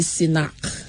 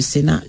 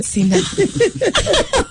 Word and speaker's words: Sinach: So the first letter and the last letter out gives you Sinach. Yeah. Okay. So guys, when you pronounce everything, nothing is silent. Not Sinach.